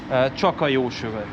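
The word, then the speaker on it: Csak a Jó Sör: And oh, how do you pronounce this one? Csaka-jósöve.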